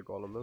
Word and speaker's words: Golem: believe, is where the golem is. Or is it golem? I know in German it's Golem. Which I guess would be right then, because I think it's a Yiddish word.